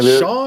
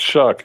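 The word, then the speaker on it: Shough: Is it Shaw or something like that? Yeah. Tyler Shuck. It's Shuck. It's pronounced Shuck, like shucking corn.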